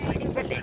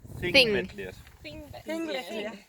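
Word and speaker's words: Þingvellir: So it's a pronounced TH in the beginning, yeah? And a double L becomes to a DL, so it's Thingvellir. Thing, no P, Thingvellir.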